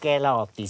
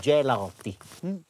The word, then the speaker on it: Gelati: Und sowieso: In Mailand wird G "dsch" ausgesprochen. Ha. G wird "dsch" ausgesprochen. Es heisst nicht Gelati, sondern "Dschelati".